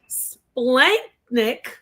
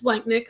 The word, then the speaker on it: splanchnic: Splanchnick, and I believe Splanchnick, let me look it up, but I believe it means visceral, like the guts, right?